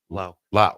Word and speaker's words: Lau: How do you pronounce this? Brian's last name? Lau. Lau.